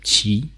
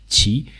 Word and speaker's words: 其: the character so that you know how to pronounce it Chi Chi and you know that the character means flag